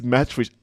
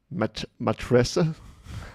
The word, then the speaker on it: Matrica: Like, it's just C, right? Bro, just pronounce that. Natasha, damn. Matressa, no C.